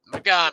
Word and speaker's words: Magomed: Magomed.